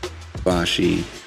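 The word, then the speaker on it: Ibushi: um he faced the Kota ibosi yeah that's how it's pronounced I Bashi that guy is more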